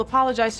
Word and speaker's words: apologize: is apologize you will apologize to my mother absolutely you see the sound is apologize the stress is on the second syllable you say apologize apologize